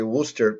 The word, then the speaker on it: Worcester: And I just think it's fun every time you say Worcester because it's not really spelled like that.